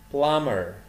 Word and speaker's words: plumber: photographer photographer pilot pilot plumber will be هنا silent مش بنطقها البي التانية plumber policeman policeman referee